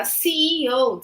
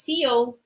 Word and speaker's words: CEO: we we generally say Co but the correct way is c e o we have to pronounce the three letters c-e-o okay uh which is